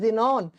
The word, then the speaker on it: XENON: X ray से बनता है जिनॉन, XENON, इसको प्रोनाउंस करते हैं जिनॉन, सिंबल होता है XE।